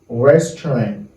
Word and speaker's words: restaurant: Restaurant. Restaurant. Restaurant veut dire restaurant. Comme on dit restaurant, on dit restaurant. Restaurant. It's like we don't pronounce these two letters. Deux lettres ça A avec U pas prononcé.